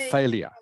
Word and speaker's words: failure: in it but but you pronounce it like it's got a y in it so failure failure failure